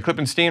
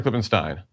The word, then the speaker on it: Klippenstein: and I totally forgot is it clipping Steen or clipping Stein Stein like the beers - Stein okay I